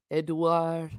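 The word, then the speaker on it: Édouard: I know in French it's Edouard.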